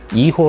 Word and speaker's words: hijo: 이거에 대해서 간단히 말씀드리면 이고 라는 것은 스펠링이 hijo 예요 그런데 스페인어 에서는 h 가 묵음 입니다 그리고 제이가 치유 빠름